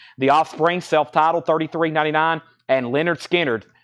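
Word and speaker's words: Lynyrd Skynyrd: Offspring self-title 3399 and Leonard skinnard pronounced Leonard skinnard 3699 pronounced leard skin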